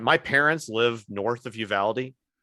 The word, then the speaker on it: Uvalde: And, my parents live north of Uvalde. And it is Uvalde. I've not been able to understand how to pronounce that name. Uvalde. No, it's Uvalde, Texas.